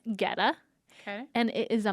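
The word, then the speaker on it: goetta: for me again g-o-e-t-t-a -g okay but it's pronounced Getta okay and it is a meat and grain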